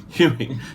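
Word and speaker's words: Hughie: Huey. Yeah. Huey.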